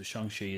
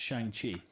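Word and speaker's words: Shang-Chi: also love saying shanghai i always thought it was pronounced shang chi but uh kevin feige pronounced it shang shi so i'm rocking with that um i'm really excited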